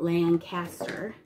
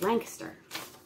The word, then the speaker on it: Lancaster: pennsylvania i pronounced it i pronounced it lancaster and when you live here in pennsylvania you quickly learn that it's lancaster oh that's adorable that